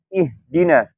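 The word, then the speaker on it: اهدنا: Misalkan contohnya pada surat Al-Fatihah di ayat ihdina, ya. Kalau kita bacanya nggak perhatikan, itu nggak jelas tuh. Di situ ada H nggak sih gitu, ya.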